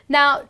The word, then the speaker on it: gnaw: next one is n now n well here the g is silent you just end up